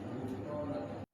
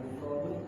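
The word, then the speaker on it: غفرانك: As'aluka ghufranaka, mohon padamu pengampunanmu ya. Makanya dibacanya ghufranak, bukan ghufranu, bukan ghufrani, tapi ghufranak.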